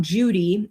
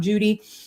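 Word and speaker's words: Cudi: one that's called Mount Judy. It's spelled with C-U-D-I, so it looks like cootie, but it's pronounced Mount Judy.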